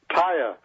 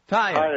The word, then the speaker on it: Taia: Taia. Taia. Oh, okay, good. Silent A, that's easy.